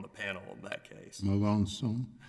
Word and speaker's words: Melanson: Judge Stewart, you may correct me on the pronunciation. I understand you were on the panel in that case. Melanson. Melanson.